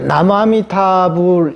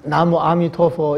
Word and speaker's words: 나무아미타불: 근데 이 명호라는 것은 우리가 이제 나무아미타불 이렇게 한국에서 나무아미타불, 그다음에 중국에서는 나무아미토포 이렇게 부르거든요. 근데 이 명호라는 것은 이 부처님과 이제 본원과 이제 직결된 문제이기 때문에 발음이 달라도 전혀 이거는 상관이 없어요.